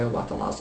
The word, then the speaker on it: Obatala: you had found out that, how do you pronounce it again? Which one? Obatala. Obatala.